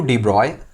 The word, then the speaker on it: de Broglie: According to डी ब्रॉय, ठीक है, pronunciation में यहाँ पे लिख देता हूँ क्या, डी ब्रॉय, स्पेलिंग दिस, ये स्पेलिंग है, ओके, सॉरी, हाँ। अकॉर्डिंग टू डी ब्रॉगली या फिर डी ब्रॉय, moving particle sometime act